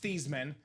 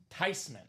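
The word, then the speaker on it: Theismann: It's not pronounced theman. It's not pronounced Thyman. The proper pronunciation is Joe Tyman.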